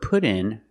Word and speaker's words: put in: We use the phrasal verb put in for install. Pronunciation. The T in put sounds like a fast D. Put in.